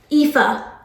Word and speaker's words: Aoife: There's like a whole name pronunciations, like Aoife.